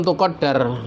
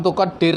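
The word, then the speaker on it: تُقَدَّر: Fa'ilam tuqaddir bukan kan. Setahu saya ini bacanya saya lebih mencocoki dengan tuqaddar seperti dalam ini. Sebagian kitab dibaca ada yang dibaca tuqaddir. Yang benar adalah seperti dalam kitab kalian. Fa'ilam tuqaddar.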